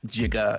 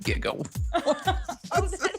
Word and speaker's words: giga: hilarious that no one in 1985 knew that jiga is actually pronounced Giga so funny I never realized that that is